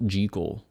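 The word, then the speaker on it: Jekyll: Strange Case of Dr Jackel and Mr Hyde this um I think it's actually supposed to be pronounced jle Dr jel and Mr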